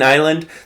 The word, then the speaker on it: island: Um and so now we have a an s in island.